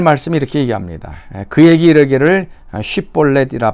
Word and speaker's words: 쉽볼렛: 자, 에브라임 사람들은 애취 발음을 제대로 못해서 이제 쉽볼렛을 십볼렛이라고 이제 발음을 하게 됩니다. 그래서 그 발음을 한 사람 한 사람 하게 하고, 그래서 십볼렛 애취 발음을 제대로 하지 못하면 에브라임 사람을 알고 이제 죽이는 것입니다.